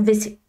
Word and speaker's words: WC: wagon wagon wagon WC Alors ça s'écrit WC mais en français on a tendance à dire VC.